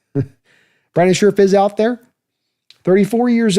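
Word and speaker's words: Brandon Scherff: Brandon Scherf. Let me say it right. Brandon Scherf is out there.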